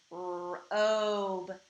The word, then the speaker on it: robe: Robe, robe, and I hear the O saying its name in this word. Robe. Now remember, we don't hear the E. It is silent, meaning it's like it's not there.